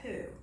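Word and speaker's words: P'u: It's p apostrophe u, and it's like a softer u poo. Poo, like you're blowing out, blowing a little insect away from your mouth.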